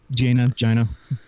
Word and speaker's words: Jaina: It's Jaina Solo. Jaina, yes. Jaina. Not Jaina. Jesus Christ. Jaina. I love it. It's Jaina. Not even spelled so you pronounce it that way.